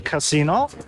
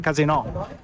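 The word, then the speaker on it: casinò: We're on a terrace, the Campari terrace, in front of the casino, as it's pronounced in Italian, because casino means shit show in Italian. Yeah, so it's very important, the intonation, casino, rather than casino.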